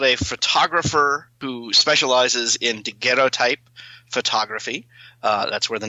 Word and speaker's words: daguerreotype: This is a daguerreotype. Do I have that pronounced right? I think it's daguerreotype. It's French, but I don't think it's really relevant either.